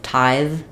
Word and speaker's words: tithe: necessarily release that D but with tithe I have to keep the air flowing you're going to hear the the sound tithe um and then if I'm